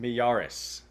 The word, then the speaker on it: Miyares: But more votes just came in, and it's looking even better for Myrays. Am I pronouncing that right? Jason Myrays? Mieres? I think it's Miyares. Miyares.